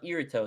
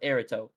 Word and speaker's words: Eribo: And it's not pronounced Irito, it's pronounced Erito.